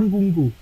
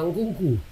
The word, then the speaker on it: Nkunku: Sebenarnya yang dia NKU kuadrat. Engku. Bukan. Gue sendiri dulu pernah nulis Nkuku. N yang kedua ini salah tuh. Nkuku. Jadi Nku kuadrat ya, Nku 2 kali.